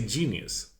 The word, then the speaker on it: Jeenius: I would say genius. It's a play on. I get that, but it's the way to spell with the 2 E's. It's genius. Okay. Because the 2 E's it's a long E then in English.